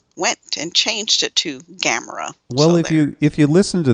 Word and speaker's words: Gamera: to camera, they went and changed it to Gamera. Well, if you listen to the theme song, it only has 2 syllables to it.